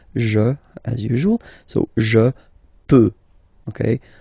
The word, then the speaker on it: peux: Final X not pronounced here, okay? So you've got X, but you don't pronounce it, so basically you get the sound peut, je peux, okay, so I can, je peux, okay. Then tu peux, same pronunciation and same spelling or writing, okay. P-E-U-X, okay, don't pronounce the final X.